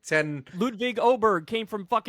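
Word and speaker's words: Åberg: but you pronounce it Oberg. I guess the thing over the A makes it sound like a O.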